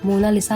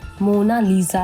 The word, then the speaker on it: Mona Lisa: भी नहीं किया है मोना लिसा को इंग्लिश में मोना लिसा लिखा जाता है लेकिन इसकी सही प्रोनंसिएशन यानी कि उच्चारण मोना लीजा है जिसका मतलब होता है